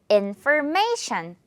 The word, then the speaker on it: information: 흔한 단어인데요 조금 긴데요 강세가 인에 하나 그리고 메이에 하나 있거든요 메이를 조금 더 강하게 한다고 생각하면 돼요 그리고 마지막은 발음으로 끝내 주는 거죠 information 어렵지 않아요 정보라는 뜻이고 난 더